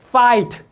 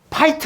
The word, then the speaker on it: fight: P라고 하면 안 돼요. F. Fight. 따라서 해봐요. Fight. 파이트 하면 안 된다니까.